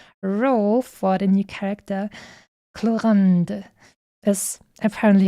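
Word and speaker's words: Clorinde: then they said cland even though you write it with an i instead of a a so I'm I'm not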